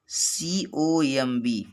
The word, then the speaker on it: comb: अगर यम के बाद बी आता है तो बी जो है साइलेंट होता है। जैसे COMB और BOMB, THUMB।